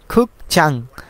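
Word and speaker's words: 극장: হবে উন্যাং মানে হচ্ছে ব্যাংক তারপরে খুব চাং খুক চাং কারণ এখানে গিয়ক যদি শব্দের শুরুতে বসে তাহলে গিয়কের উচ্চারণ হবে খ তাহলে খু আর গিয়ক নিচে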